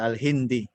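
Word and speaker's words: الهندي: Kalau Nun mati itu ketemu dal. Gimana? Nun mati ketemu dal. Terus gimana Pak? Dengung gitu apa gimana? Bacanya jadi panjang nggak? Al-Hindi. Enggak panjang. Enggak. Biasa aja Al-Hindi.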